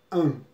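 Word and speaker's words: HAM: Então hoje a gente vai dar um exercício com o mantra AM, né? Esse mantra, ele se pronuncia com uma letra H, A e M.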